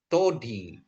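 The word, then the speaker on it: δόντι: papi ini jadi dodi thodi ya. Kalau dalam bahasa Inggris kan ini jadi apa ya? Donti. Donti itu kan gigi gitu ya Bapak Ibu ya. Tapi bacanya itu thodi gitu ya.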